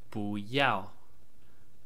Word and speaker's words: 不: the basic chinese word Booya Booya which means don't or do not do something so here's a brief explanation about this word firstly the first character is usually pronounced boo in the fourth tone it means not but